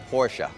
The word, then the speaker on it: Porsche: Porsche. Thank Two-syllable.